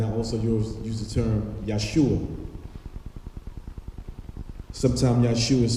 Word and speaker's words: Yeshua: Now, if you notice, I use the term Jesus, and then I also use the term Yeshua. Sometimes Yeshua is spelled Y-E-S-H-U-A or Yeshua, Y-E-H-O-S-H-U-A, which means salvation, or Yahweh is my salvation.